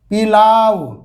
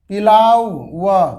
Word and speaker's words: pillow: क्या लिखा हुआ है, पिलाव, पिलाव व, पिलाव व, ऐसा लिखा हुआ है क्या, ऐसा नहीं लिखा हुआ है। इसको मैसे नहीं पढ़ते हैं, क्या पढ़ते हैं, पीलो।